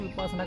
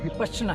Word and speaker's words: विपश्यना: विपश्यना का मतलब है विशेष प्रकार से देखना, और विपासना का मतलब उल्टा हो जाता है। तो सबसे पहली बात है कि इसका जो उच्चारण जो है वो विपश्यना है।